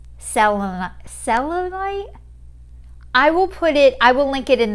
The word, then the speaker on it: Selenite: Someone told me to buy, I said it wrong in one of my videos, but this is Selenite.